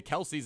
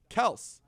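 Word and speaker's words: Kelce: it and right and the kelsey's have been the kelsey's as long as anybody knows but he said it's actually kels yes and so i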